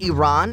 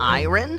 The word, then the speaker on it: Iran: Did you know the country is pronounced Iran and not iron?